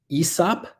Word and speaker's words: hyssop: But anyway, hyssop, sometimes pronounced Aesop, and that comes from